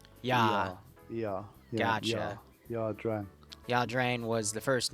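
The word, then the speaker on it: Ia Drang: Is it Aya or I always forget. Horrible. I always pronounce it Ya. Ya. Ya. Gotcha. Ya Dran.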